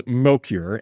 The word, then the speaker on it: Mokyr: I always thought it was Mokyr, Mokyr. I don't actually, I don't know how it's pronounced. Mokyr. Oh, okay.